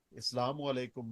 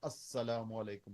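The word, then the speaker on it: السلام عليكم: meme अल सलाम वालेकुम उसको जब हम लाम को साइलेंट कर देते हैं तो वह अस्सलाम वालेकुम हो जाता है लेकिन लाम वो अपनी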